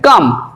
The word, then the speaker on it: calm: করি দেখো যেমন ধরো CALM কাম কাম মানে শান্ত CALM, এখানে দেখো ল উচ্চারিত হচ্ছে না, CAM কাম এমন হচ্ছে, CALM কাম, ল উচ্চারিত হচ্ছে না।